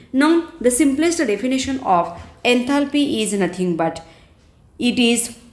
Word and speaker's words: enthalpy: Now we move towards the second thermodynamical function known as enthalpy. It is always denoted by the notation capital H. Enthalpy, here L is silent, enthalpy.